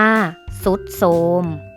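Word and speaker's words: ทรุดโทรม: โซ่ ค่ะ ทรุด โทรม อ่าน ว่า ว่า ทรุด โทรม อินทรีย์ อ่าน ว่า อินทรีย์ พุทรา อ่าน ว่า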